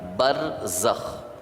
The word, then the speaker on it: برزخ: کو برزخ کہتے ہیں۔ با جس کو بے بولتے ہیں اردو میں، را جس کو رے بولتے ہیں، پھر زے، پھر اس کے بعد خے، یعنی جو اردو تلفظ ہے اس کے مطابق برزخ۔ یہ برزخ ایک عالم